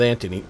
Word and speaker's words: Anthony: And I That was the one with Anthony. Anthony Anthony Hopkins. If you're from England, you you you don't say th.